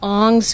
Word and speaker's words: Ong: to the dynamism of local markets in elwha aung's view the scholar's name last name is spelled ong this neoliberal logic is conceptualized as